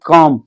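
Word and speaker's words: calm: Must we keep काम। काम का मतलब यहां एल साइलेंट है।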